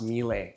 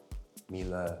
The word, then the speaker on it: Miele: I just got educated today that it's not pronounced Miele, it's Miele. I was pronouncing Miele the whole time. I was wrong. Miele, it's German. Miele.